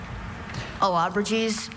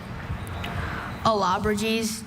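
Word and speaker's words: Allobroges: Alabrages.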